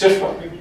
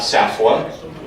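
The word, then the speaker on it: SFWA: And it was fun to learn that it's pronounced SIFWA. I feel like I'm more of an insider now. And I was delighted to learn that much thought and consternation went into the acronym, the letters, and the pronunciation. And that it's not SAFWA or SAFAFWA, SIFWA.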